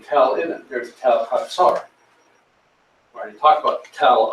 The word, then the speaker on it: Hazor: cities is this one, pronounced Chatzor. Most people say Hazor. Chatzor, and there's a tell there.